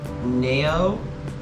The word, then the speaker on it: Nao: But another song I would say would be Orbit by Nao. I believe that's how you say her name. It's spelled N-A-O.